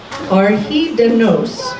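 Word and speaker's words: Ar Hyd y Nos: actually looked up how to pronounce and it's pronounced by the second our heat dem nose which means all through the night it was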